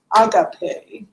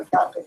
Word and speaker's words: Agape: And our speaker is Roger Van from Agape, UK. I learned it's not agape, it's agape, to pronounce properly.